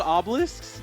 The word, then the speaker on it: Obelisk: Tormentor the torment is that what they're called oblisk did I say that right exactly can can